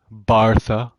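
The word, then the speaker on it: Barcelona: a new studio in bartha bartha if you say it right uh uh that would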